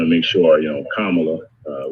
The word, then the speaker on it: Kamala: make sure you know kamala uh we always want to say her name right so senator kamala harris right i always tell them come on look right that's good think about it there